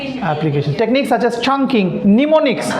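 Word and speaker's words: mnemonics: Pneumonics. M n E pneumonics. M O N I CS pneumonics. Pneumonics. Yes. M is silent.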